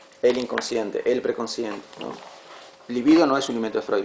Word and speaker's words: libido: Eh, se es una palabra grave, se pronuncia livido. Sí, livido.